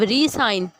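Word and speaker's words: re-sign: अब रीसाइन, ठीक है, रीसाइन दोबारा से साइन करना। देखिए प्रोनाउंसिएशन मुख्तलिफ होगी।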